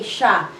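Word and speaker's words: siya: we can contract this instead of saying see ya we say sha it it sounds like sha but we spell it with shah s y a sha but when you write it it would always be spelled like this see but when you say it you can say sha okay matalino matalino sia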